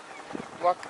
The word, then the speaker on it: Whaka: Waka. Right? We don't actually pronounce it like Waka. the PH because it sounds like that we're swearing. Alright? So we drop the H and we say waka.